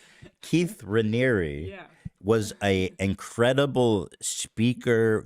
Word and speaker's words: Raniere: documentaries is that Keith Ramirez was like a very. You know that it's Raniere, right? I don't care. Yeah, apparently I've been saying it wrong. Keith Raniere Yeah.